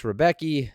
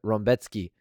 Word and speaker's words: Rębecki: Alhassan versus Claudio Ribeiro, Mateus Rebeki versus... That's not Rebeki. That's not how you pronounce it. I have it. Rębecki versus Nick Fiore, and the other three fights that are on the prelim.